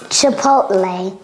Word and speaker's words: Chipotle: is not obious okay chipot a stop tea we call it a stop a stop tea a stop tea like in the word important important or mountain mountain Cody what are